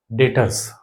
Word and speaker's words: Debtors: Okay चलिए डेटर्स डेटर्स डेटर्स क्या होते हैं? डेटर्स क्या होते हैं? देखना यह बी है ना यह साइलेंट होता है।